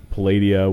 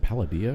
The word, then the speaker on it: Palladia: channel, and I had Palladia, which is now MTV Live because they got bought out. Is it Palladia or is it Palladia? Is it Palladia. Putting the accent on the wrong syllable.